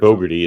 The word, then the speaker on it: Fogarty: his company became known as Fogarty's Cove Productions. Or Fogarty, it's pronounced Fogarty. Fogarty. Out in Ontario, we say Fogarty.